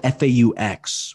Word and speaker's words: faux: But I would refer to myself as a furry, spelled F-A-U-X, which I'm coining that term, like a a fake furry, you know, like okay, faux.